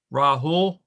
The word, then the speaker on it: Rahul: um rahul it's you have to pronounce the l also okay can you say i mean you just pronounced every letter you see rahul yeah okay if i